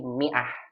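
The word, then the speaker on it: مائة: Maka diberikan sukun di atasnya bulat, tandanya nggak dibaca kan dalam ilmu tajwid. Mi'ah dibacanya begitu.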